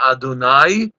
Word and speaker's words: Adonai: Baruch Ata Adonai Lamedeni Chokecha. That's how we pronounce it. Ado, and afterwards the Nai.